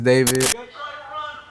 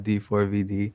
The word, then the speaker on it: D4vd: Hello, my name is David. Pronounced David, not D4VD.